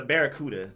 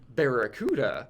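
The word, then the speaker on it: Barraskewda: Drawn up that Magikarp and Barracuda. Like it's the word Barracuda, but it's spelled with a K.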